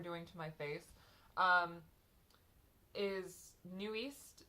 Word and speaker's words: NU'EST: because I've always said it as newest, and then now I can actually read Hangul, and I looked at it and I was like, wait a minute, this is not, it's not how it's pronounced. It's actually New East, and I'm pretty sure